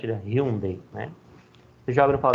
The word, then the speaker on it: Hyundai: A gente chama Hyundai, né? Mas a pronúncia, né, pelo menos lá, é Hyundai, né?